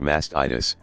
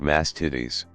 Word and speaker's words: mastitis: Epsom salt baths and it's pronounced mastitis not masked titties lol